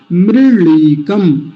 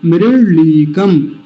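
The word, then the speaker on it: मृळीकम्: मृलीकम, मृलीकम, मूर्धन्य ल जैसा उच्चारण आएगा, मूर्धा से बोलेंगे ऊपर से, जैसे मूर्धन्य शकार बोला जाता है या ट बोला जाता है, मृलीकम, मृलीकम।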